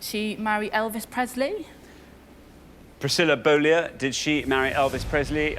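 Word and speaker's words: Beaulieu: 60 at scores but it's right yes Priscilla bolo and that is how she pronounced it became Priscilla Presley of course so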